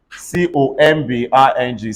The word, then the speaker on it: combing: COMBING, say combing.